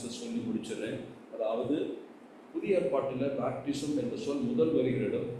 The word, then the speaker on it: baptizo: இது noun form, அதாவது பேப்டிசம் என்பது நவுன் ஃபார்ம் தான். ஆனால் அதனுடைய வெர்பு ஃபார்ம் என்னவென்று கேட்டால் பேப்டிசோ, BAPTIZO, பேப்டிசோ. அதை ப்ரொனவுன்ஸ் பண்ணும்போது பேப்டிட்ஸோ, டி இடையில வரும், பேப்டிட்ஸோ என்று சொல்வார்.